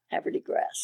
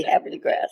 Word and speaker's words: Havre de Grace: Havre de Grace. Havre de Grace. If you're an old native, you say Havre de Grace. Yeah. Even Webster's Unabridged Dictionary said that the pronunciation was Havre de Grace.